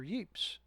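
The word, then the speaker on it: Ypres: Naples infantry Corp near Yi or wipes or yeps either pronunciation is correct okay now that that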